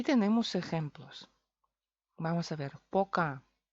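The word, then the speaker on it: пока: Poca o atónica. Poca es eso como es oficialmente. Tiene que ser poca. Pero los rusos lo pronuncian paca, porque O es mucho esfuerzo. A es mucho más fácil.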